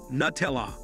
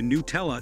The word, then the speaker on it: Nutella: In the UK we call it and pronounce it Nuh-tell-ah. As do consumers, the US pronunciation referring to New-tell-uh is just for them.